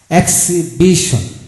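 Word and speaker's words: exhibition: এখন আসুন অনারেবল, যেমন এখানে x expression, E এক্স এইচ আই বি আই টি এন, এক্স এক্সিবিশন।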